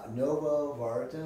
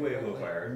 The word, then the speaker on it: Nuevo Vallarta: So I'm actually at his clinic, which is in Novo Vallarta. Is that my pronunciation? Nuevo Vallarta.